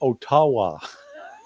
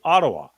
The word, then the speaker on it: Ottawa: pronounces Canada's nation's capital he calls it Otawa now look I think he's doing it tongue-in-cheek I think that Tucker's a smart guy and he could turn to a staffer and say how do you say this what's the pre correct pronunciation and somebody would say Ottawa and but so I